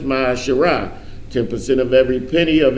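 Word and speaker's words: מעשר: You can find this in Numbers 18:21 and Malachi 3:8 and 10, means tenth in the Hebrew and is pronounced Ma'asherah.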